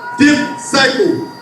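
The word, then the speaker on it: δίψυχος: In Greek, the word double-minded is pronounced dipsycho, double-dumb.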